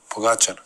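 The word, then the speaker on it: Pogačar: Pogacher.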